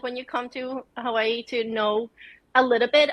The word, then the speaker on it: Hawaii: mostly most people say Hawaii right uh but true Hawaiians um call Hawaii Hawaii because the W's in Hawaii is pronounced like a V so every word instead